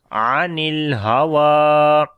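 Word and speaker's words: عن الهوى: On the lam again we make tawassut quality, and waw we long due to standing fatha, and ya is silent, so we say anil hawa. Even you continue or even you stop, so in both conditions we read anil hawa like wa sound with longing.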